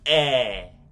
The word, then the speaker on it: é: you say it like with the accent on top of it of the vowels makes it more like a stronger and more open sound when you're pronouncing those vowels.